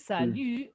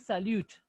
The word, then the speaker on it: salut: Here we said salut, not salute. If there was letter E at the end, then we'll say what? Salute. But there's no letter E. Salute. That's why I say salut.